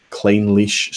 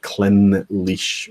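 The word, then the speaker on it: Clynelish: or see when darlin you know some pronouncing clean leash slaughter because a lot of people were thinking I pronounce it clement leash when i thought it's just because i was seeing it so fast felicia unleash unleash but as clean leash so we look lots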